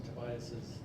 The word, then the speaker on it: Tobias: I'm the guy who's been mispronouncing Tobias's name for the last 15 years.